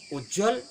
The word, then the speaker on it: उज्ज्वल: जब हम ये रट लेते हैं उज्ज्वल में दोनों जा आधा होंगे, उ आधा जा पुनः आधा जा वाह और ला।